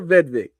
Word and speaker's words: Vedvik: Kyer Vedvik. Yeah, you got to spell it.